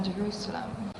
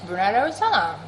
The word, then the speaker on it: Brunei Darussalam: about living in Brunei, Jerusalem. How you gonna live here and not know how to pronounce the name of this country? It don't spell like Jerusalem. It don't sound like Jerusalem. It's Brunei Darussalam.